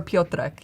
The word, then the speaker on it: Piotrek: Or Piotrek, you can say, is like a short form.